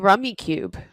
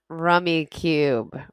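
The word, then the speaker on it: Rummikub: have you ever played rummy cube i played because just regular rummy then you need rummy cube or rummy cub i've heard it pronounced both ways it's like rummy with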